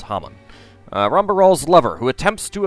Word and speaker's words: Haman: And Haman, or Haman. It's pronounced differently. It's Haman.